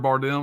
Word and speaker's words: Bardem: This character, I always say his name wrong. Javier Bardem, is that right? That's right.